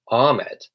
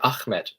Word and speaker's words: Ahmed: really interesting one because British people pronounce this name was Ahmed but he was kind of teaching me to say Ahmed Ahmed now of course I know that pronunciation probably isn't perfect but I do try to attempt to pronounce it how he liked and liked me to